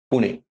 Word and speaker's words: Pune: seat of power was Pune okay back then the britishers they could not pronounce Pune or Pune and therefore the anglicized that to Puna okay an interesting you